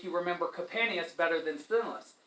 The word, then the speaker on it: Sthenelos: Sthenelos, perfect pronunciation. Very hard for us who speak American English to pronounce S-T-H, Sthenelos.